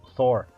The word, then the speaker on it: Thor: Ou Thor, pronúncia mais correta.